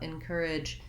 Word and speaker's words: encourage: it'll be short and reduced in an unstressed syllable so thinking about encourage as having more of the word in at